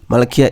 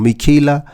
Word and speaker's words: Michaela: And then it means that Malakia is correct. Michaela, I've been pronouncing this wrong. Michaela is correct.